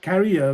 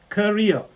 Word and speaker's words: career: but you can't you know you can't say carrier when you go to a company and you're